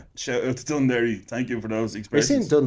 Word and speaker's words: Dún Laoghaire: Shout out to Dún Laoghaire. Thank you for those expressions. Dún Laoghaire? Dún Laoghaire.